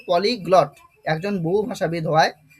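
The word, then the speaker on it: polyglot: আচ্ছা অনেকেরই অনেকেই তোমরা আছো এরকম হয়ে যায় অনেক সময় যে উচ্চারণের সমস্যা হয় স্যার কি উচ্চারণ বলব এটা পলিগ্লট এরকম প্রনান্সিয়েশনটা হবে হ্যা পলিগ্লড তাহলে পলিগ্লড কথার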